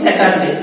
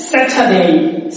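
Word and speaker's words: Saturday: কিন্তু এর আগে একটা ভিডিও আমি আপলোড করেছিলাম, সেখানে আমি বলেছিলাম শব্দের শেষে যদি এ ওয়াই থাকে তাহলে উচ্চারণ হবে এই, তার মানে উচ্চারণ করতে হবে এই। দেখেন আমরা বলি স্যাটারডে, এটা হচ্ছে স্যাটারডে, স্যাটারডে।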